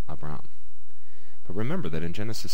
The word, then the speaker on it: Abram: the ending changes so we know Abram we know it's two syllables and we know we accent that second syllable Abram but remember that in